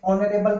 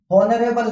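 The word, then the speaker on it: honourable: अब इसको मैंने ऑनरेबल पढ़ा, ऑनरेबल नहीं पढ़ा, ओ से स्टार्ट था, एन।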